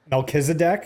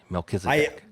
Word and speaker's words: Melchizedek: Melchizedek. It's a biblical name. Melchizedek.